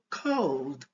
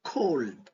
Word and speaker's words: cold: Ok, je prononce cold et non cold. Ok, le L ici n'est pas prononcé.